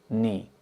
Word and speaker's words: knee: So the knee uh the K is not pronounced knee.